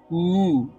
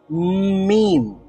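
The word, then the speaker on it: ميم: করি তাহলে উচ্চারিত হবে মুম প্রথমে ন মানে নাক দিয়ে বের হচ্ছে তারপরে মুখ দিয়ে বের হচ্ছে মিম মিম ম সাউন্ড মিম তাহলে দুই ঠোঁট থেকে উচ্চারিত হয় মিম এবং আরো একটা হরফ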